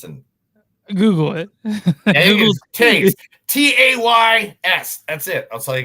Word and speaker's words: Tays: It's spelled Tay. So yeah, I want to make sure I'm getting this right.